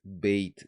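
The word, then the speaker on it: בית: Por eso cambia el acento bayit, ya no existe, es beit, beitish.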